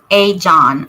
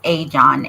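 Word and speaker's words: Ajan: summer Wells case Dudley a John is once a John I was pronouncing it wrong it's a John a-j-a-n did by authorities W.A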